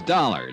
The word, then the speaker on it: Dollar: It's Dollar, Dollar. Dollar, huh? Yeah, rhymes with collar.